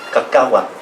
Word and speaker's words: cacahuate: Ate is from the Spaniards. They couldn't pronounce our language, so they put ate and ote at the end of everything that ended in EL.